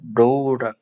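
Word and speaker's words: ρ: 그 우리가 기호로는 로우 로우를 우리가 쓰게 됩니다. 이것의 발음 기호는 ru가 되겠습니다. 그래서 로우라고 있습니다.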